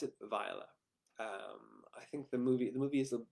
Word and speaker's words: Viola: viola which is uh i believe the correct pronunciation from twelfth night which is where i got the name it's uh vialus from